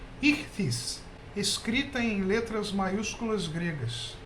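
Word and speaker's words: ΙΧΘΥΣ: Essa é a palavra peixe, em grego, que se pronuncia aproximadamente como ichthys, escrita em letras maiúsculas gregas.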